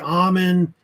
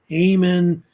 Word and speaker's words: Amun: The name, it's pronounced either Amun, Amun.